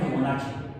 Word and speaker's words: Fibonacci: Esta se le adjudica a un matemático al que llamaban Fibonacci, en italiano Fibonacci. La doble S se pronuncia como che, como la che en español, pero es la doble C en italiano.